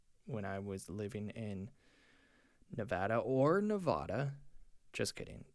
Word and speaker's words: Nevada: I signed up to be an Instacart driver when I was living in Nevada. Just kidding. It's pronounced Nevada.